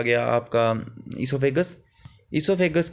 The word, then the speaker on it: oesophagus: इसोफेगस, यहाँ पर इसोफेगस की स्पेलिंग आपको गलत दी है, OESOPHAGUS होता है, प्रोनाउंस इसको हम ऐसे ही करते हैं।